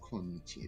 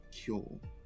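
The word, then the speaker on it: 今日: But today is no longer pronounced as konnichi, it is kyo, to try and differentiate between the two.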